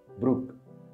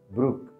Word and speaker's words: Brooke: ways of pronouncing this name the most common pronunciation is Brook Brook the less common pronunciation is BR bro it's